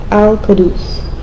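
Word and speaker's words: القدوس: Alcadus. The U is pronounced like U and then the Q like a K.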